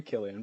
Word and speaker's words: Cillian: you have cillian wait is it sillian or killian how do they how do you pronounce oh killian it is killian that's right killian donovan fez merlin